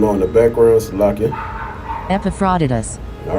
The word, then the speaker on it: Epaphroditus: Epaphroditus. All right, that's how you pronounce it.